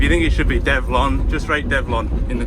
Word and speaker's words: Develon: I'm sure I was told how to say it, but, well, I mean the name is a combination of the 2 words development and onwards, apparently. So going by that, Develon.